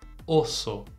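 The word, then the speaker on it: oso: urso e olha só a gente tem uma letra O no início uma letra O no final e as duas se pronunciam da mesma forma repete para mim osso muito bem agora a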